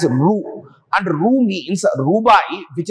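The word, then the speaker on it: ரூ: is in Tamil language, which is pronounced as Ru.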